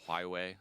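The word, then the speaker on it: Huawei: it was this uh company called hway I believe is how you say it because they had a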